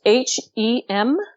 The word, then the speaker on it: Hem Netjer: So yeah, please go and spell Hem Netjer, please. It's HEMNETJER. Excellent. Thank you. And again, that's pronounced Hem Netjer.